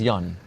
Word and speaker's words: Jan: Okay, so basically the Finnish Johnny is Jan, because you pronounce J as Y.